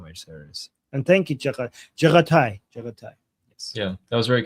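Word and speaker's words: Jaghatai: How do you pronounce this again? Jaga take. Jaga take. Okay, take. Jaga take. Yeah, but the take is, but I think it's Jaga Tai.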